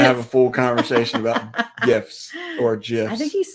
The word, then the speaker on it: GIF: And Ricky said it's a GIF, not GIF. The G is silent. Wait, soft. It's soft, not silent.